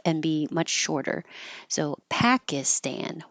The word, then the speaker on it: Pakistan: YouTube thank you for Pakistan the i in the middle is not stressed so it will change to an i as in it or an uh as in up and be